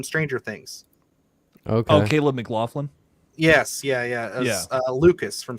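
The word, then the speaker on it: McLaughlin: that's interesting it's got um uh Caleb uh mclan I think is how you say that uh he's from stranger things okay oh Caleb mcclaflin yes yeah yeah Lucas from stranger for those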